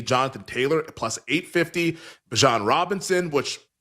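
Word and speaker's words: Bijan: Bjan Robinson, which it's Bjon, he told us. Like, don't say Bejon, you're mispronouncing my name.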